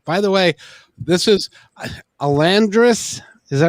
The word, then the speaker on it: Elandas: She put an R in it somehow, but there's no R in it. It's just Elandas.